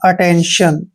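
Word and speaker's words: attention: है श ध्यान रखिए टी के बाद आई ए आई ई आई ओ या फिर आई ओ एन आए तो टी को श पढ़ना है जैसे कुछ एग्जांपल है A double T ई एन टी आई ओ एन इसको पढ़ते हैं हम अटेंशन अटेंशन अटेंशन मींस होता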